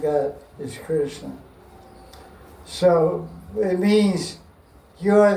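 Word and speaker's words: Krishnaa: So she was called Krishna long a and she was being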